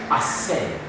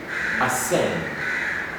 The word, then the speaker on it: ascend: Now let's get to the next letter, which is letter C, and identify which are these silent letters, or the words with the silent C. And we have the first word as ascend, ascend.